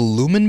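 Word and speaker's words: Lumon: it says in Severance, there's a thing called the Lumen Building. Yeah. Did I pronounce that right?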